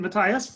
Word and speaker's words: Matthias: We have Bonnie Matthias, am I pronouncing it Matthias, from Yes.